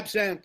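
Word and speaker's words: absinthe: was their what what was absen absen yeah absen I think it's pronounced what is a BS i n t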